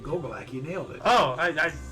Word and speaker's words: Gogolak: 1972, NFL New York Giant place kicker Pete Gogolak scored a team record 8 points after touchdown in 62-10 win over the Philadelphia Eagles at Yankee Stadium, New York City. Ouch. By the way, good pronunciation. Gogolak, you nailed it.